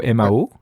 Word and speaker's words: Mao: Et donc tu le prononces, tu l'avais écrit sur les messages que c'est envoyé Mao, M-A-O. C'est exactement ça, c'est comme le dictateur. Ok, tu le prononces pareil.